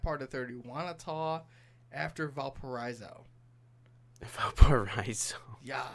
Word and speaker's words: Valparaiso: South Central is like Union Mills, like that part of 30, Wanata, after Valparaiso. Valparaiso. Yeah. Why you say it like that? Because there's an I in Valparaiso. Valparaiso.